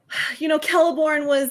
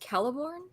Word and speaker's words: Celeborn: It's, Celeborn was slightly downplayed.